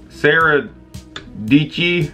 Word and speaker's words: Dietschy: Sarah Dietschy, rhymes with Peachy or something like that.